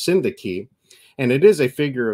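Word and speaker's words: synecdoche: frame and everything, but it's like Sinadinadochi. We all laughed knowing that was not it, but it was hilarious. It's pronounced Syndaki, and it is a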